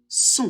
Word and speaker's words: son: O et N, ça fait toujours on, donc on prononce le possessif masculin singulier son.